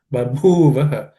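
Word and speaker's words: बभूव ह: Babhuvaha, the bhu is aspirated because fourth letter in the per class of consonants.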